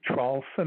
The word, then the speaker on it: Traulsen: The last name is Traulsen. It's spelled T like Tom, R-A-U-L-S-E-N like Nancy, and